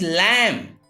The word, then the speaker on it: lamb: Here B has given after M. It's why B is silent.